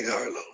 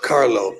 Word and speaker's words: Carlo: Jack Harlo. Follow Jack Harlo. Did I say it right? C A R L Carlo. See, I messed it up again.